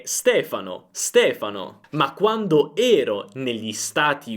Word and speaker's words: Stefano: Il mio nome è Stefano, ma quando ero negli Stati Uniti tutti mi chiamavano Stefano.